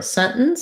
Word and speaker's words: sentence: end mountain mountain and same for sentence sentence i tend to do scent so the t is there in that the end stops short but i don't say sentence you can sentence is okay but native speakers will say sentence and i do have